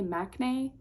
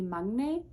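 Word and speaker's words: 막내: and in America, we say "maknae" but the Korean pronunciation is actually "mag-nae" which literally translates to "the youngest."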